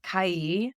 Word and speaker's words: Kai: name because I want to make sure we pronounce it correctly all good it's C like Hawaii okay very K tell us a